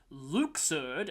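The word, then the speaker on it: Luxord: cool ship fights against Luke surd apparently that's how his main is pronounced a lot of your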